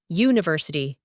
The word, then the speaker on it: university: Because even though university starts with a U, it's pronounced university. It begins with a Y sound, a consonant sound, so a university.